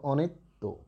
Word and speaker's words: অনিত্য: অটা ও হয়ে গেল, তাই হয়ে গেল দেখো অনিত্য।